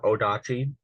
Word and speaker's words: odachi: also used other weapons such as the very long nodachi or odachi depending on who you ask how it's pronounced which was used primarily